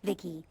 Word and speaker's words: Vici: I'm Vici pronounced Vicki.